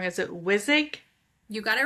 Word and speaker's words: Wissig: I'm going to probably say your last name wrong. Is it Wizik?